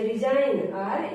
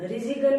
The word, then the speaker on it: resign: जैसे रिजाइन, RESIGN, रिजाइन, RESIGN, रिजाइन, रिजिगन नहीं पढ़ेंगे इसको, रिजाइन।